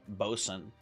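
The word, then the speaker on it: Boatswain: Boat Swain as weird pronunciation is pronounced Bosen.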